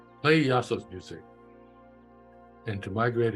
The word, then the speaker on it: Iasos: correctly which is amazing it didn't even say iasos or anything say Yos I figured now I